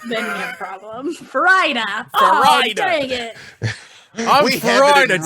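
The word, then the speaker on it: Farideh: And like you pronounce it like you pronounce fajita, presuming you've pronounced fajita correctly. Fajita. Then you have a problem. Farida.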